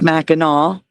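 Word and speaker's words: Mackinac: Okay, so it is pronounced Meno, as I said.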